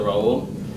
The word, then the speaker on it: Raul: He called me Raul instead of Raul.